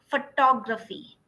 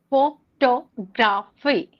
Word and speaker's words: photography: need to stress on this is what is pronunciation. Yeah. For example photography. Photography. Photography.